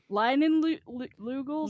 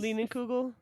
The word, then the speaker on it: Leinenkugel: Lugels? Leinenkugel. Oh, it's a K! Thank you. I think. I don't know. font- Wait, Maybe what's not. what's Leinenkugel doing?